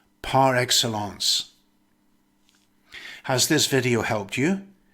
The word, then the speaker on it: par excellence: usually follows a noun or verb and it's pronounced par excellence has this video helped you then like share